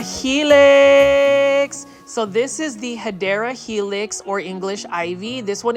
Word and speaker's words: Hedera helix: For those that have never been to this channel, I mispronounce Hedera Helix as Hydra Helix because that's kind of like a plant foldy staple.